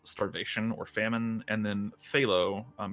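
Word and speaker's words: Zalo: or famine and then phthalo um it's spelled z-a-l-o but z's are th's basically um phthalo is dizzies or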